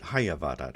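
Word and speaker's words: hyavadat: He pronounces it Hayavadat. I was pronouncing it Yavadat, but maybe it is Hayavadat.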